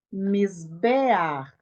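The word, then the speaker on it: מִזְבֵּחַ: E agora eu tenho o patá furtivo e o ret. Então, eu pronuncio e translitero o patá e em seguida o ret. Como é que nós leremos essa palavra? Misbear, misbear, misbear, que significa misbear?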